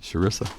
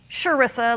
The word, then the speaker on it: Chrissa: Um, it's spelled with a ch, but it's pronounced with an sh. So, it's sharesa, like sure is nice to meet you, sharesa.